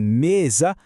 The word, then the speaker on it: mesa: Pensa só, em vá, por, a força está lá no fim. Já em mesa, está no comecinho.